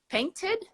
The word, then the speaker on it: painted: right paints I have yeah I have to include another syllable painted uh-huh oh yeah see